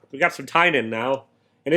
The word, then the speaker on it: Tynion: But I listened to an interview where he said how to pronounce his name. So it's Tynion.